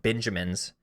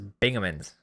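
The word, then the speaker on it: Bingemans: And I asked Will and Marin, and they said Max's Sport World, and I would say it's called pronounced Benjamins or Benjamins, and it's Bingamans. Binge mans. They say it's Bingamans.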